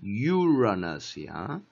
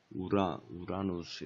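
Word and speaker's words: Uranus: 요렇게 다시 가이하고 유라너스야. 우라누스 이렇게 해서 뭐 유라너스에 유라너스 또 유레이너스 이렇게 발음해도 돼.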